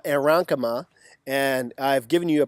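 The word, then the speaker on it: aerenchyma: So that second approach is what we call aeronkema, And I've given you a pronunciation here because it's a very strange word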